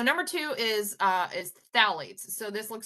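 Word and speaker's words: phthalates: two is uh is phalates so this looks like a really hard word to pronounce um but as as with Latin based things so you don't pronounce the pH it's just thite um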